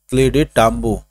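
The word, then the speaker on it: Clyde Tombaugh: तो ये दोस्तों आप ये प्रोनाउंसिएशन है, इसको आप लोग देखेंगे, क्लेडे टाम्बो।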